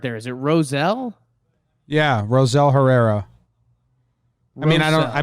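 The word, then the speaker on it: Rosell Herrera: that's how it's phonetically that's how it's pronounced phonetically with American English accent yeah baseball-reference has it as Roselle Herrera so Roselle you know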